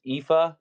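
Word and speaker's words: Aoife: on on warp cast her name is epha but it's spelled a o i FY I think that's how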